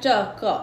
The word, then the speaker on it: 这个: Ejaan zhege ni ZH zhe eh. Zhe, zhe, ji sebut ke zhege eh.